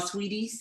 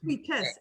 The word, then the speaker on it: Sweetest: Like, you're all sweeties. All my Michigan people, y'all help me out. Is it Sweetest Day or is it Sweeties? Sweetest, SWEETEST.